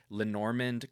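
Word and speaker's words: Lenormand: Bianca Flores is a neuroscientist and a tarot and Lenorand card reader. Did I pronounce that one right?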